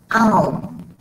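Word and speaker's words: Aum: is that while I often say Ohm, Ohm, Ohm, and most people do, the pronunciation of that word, that term, is actually Ohm.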